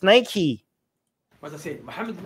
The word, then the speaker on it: Nike: of nike wright and all these people are getting it wrong they see nike it's nike what's the same i